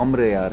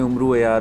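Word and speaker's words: अमर अय्यार: और अगर आप जो इसकी एक्चुअल प्रोनाउंस उमरू आर की देखें तो वह अमर यार है जो लेकिन हम लोगों ने उमरू यार उमरू यार कहना शुरू कर दिया और वो उम्र यार बन गया तो वो हमारे जो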